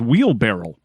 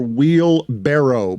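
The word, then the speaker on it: wheelbarrow: this show i had always thought it was wheel barrel yeah like a barrel put it on the pole guillermo at levitard show wheel barrel or wheel barrow because i imagine a lot of people pronounce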